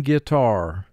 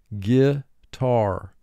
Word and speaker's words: guitar: GU represents the sound g here. The U prevents the G from being followed by the letter I. When G is followed by EI or Y, it will oftentimes represent its second sound.